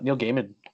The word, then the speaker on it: Gaiman: lot lots of uh Neil G or sorry Neil Gaiman I always want to call it Gman but it's it's his pronounced G uh Neil giman like audio books too that's yeah um a